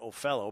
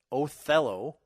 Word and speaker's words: Othello: by British parents that you pronounce that Oh fellow because I've only ever heard it as Othello the and of course